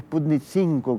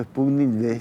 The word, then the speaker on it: Sputnik V: Tuve que investigar un poco si es Sputnik 5, como veo que muchos periodistas pronuncian, o Sputnik V.